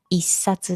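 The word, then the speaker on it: 一冊: Chỉ riêng số 1 thì đọc là "issatsu".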